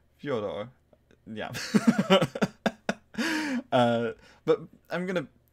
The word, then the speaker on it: Fyodor: Yeah, this past week, the Fyodor Pavlov Tarot, and I believe I pronounced that correctly. Fyodor, yeah.